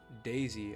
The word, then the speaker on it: Dazey: by the name of Daisy I believe not like daisy as in like the flower but Daisy is in like you're dazed up for real yeah d-a-z-e-y I'm pretty sure that's